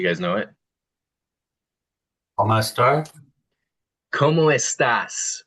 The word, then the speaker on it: cómo estás: ¿Cómo estás? With an S at the end.